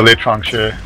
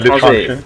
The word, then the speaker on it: L'Étranger: But the Litranche, or can you pronounce that properly? Because you are French. Pronounce what? The spy pistol. Oh, l'étranger. L'étranger. dysfunction.